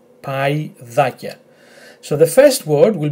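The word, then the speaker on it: παϊδάκια: However, in this word, which is identical to that, because of those two dots, you will not pronounce this combination as e, but as I.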